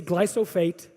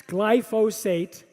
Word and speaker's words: glyphosate: ingredient is called glyphosate everyone everyone pronounces it wrong then we say gly so fate its glyphosate or they say glyco phosphate glyphosate so that's my first